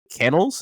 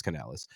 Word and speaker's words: Canales: hire bucks OC Dave kennels is that how you say his last name I thought it was Canal Canales could be I said it wrong it's Canales um as their head coach